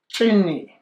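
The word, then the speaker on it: Zini: Chini. Chini? But it's spelled Z-I-N-I.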